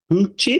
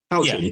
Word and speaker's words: Houchin: But he's done a phenomenal year and he's passing it on to Will Houchin. Is that how I say his name? No, Houchin.